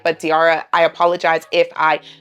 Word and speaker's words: Diarrha: I have seen some pronunciations of her name as Giara, but I'm going to just call her Diara because that's how I've seen she herself pronounce it and other people pronounce it.